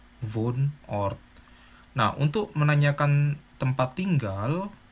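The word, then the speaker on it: Wohnort: atau tempat tinggal ya bacanya bukan fonor tetapi pun or Nah untuk menanyakan tempat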